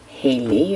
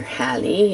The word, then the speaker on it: Halley: All right, we want to get another video here of Miss Haley, or Hallie, as you may choose to pronounce it.